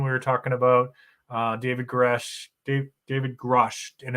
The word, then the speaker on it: Grusch: All right, so we did David Grush.